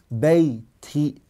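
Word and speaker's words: بيتي: the grammarians is because when the person pronounces it, his bottom lip goes down. Bayti.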